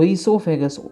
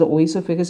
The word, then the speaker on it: oesophagus: uh o is there o is silent here okay try to remember this we start this pronunciation from e esophagus esophagus okay don't pronounce it as a oh esophagus if you pronounce it